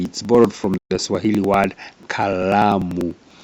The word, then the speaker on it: kalamu: It's borrowed from the Swahili word kalamu. But Kikuyus have a problem with L, so they usually substitute with R. So kalamu becomes karamu.